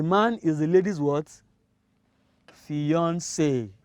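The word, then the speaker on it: fiancée: is the lady's words fiance fiance even though we spell this differently from that of a female f-i-a-n-c-e but that of a female f-i-a-n-c-e e but they have they are pronounced the same way fiance all right the last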